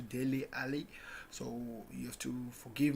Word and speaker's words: Dele Alli: I used to pronounce Dele Alli as Denny Ali. Until now, I'm trying to correct myself to Dele Alli.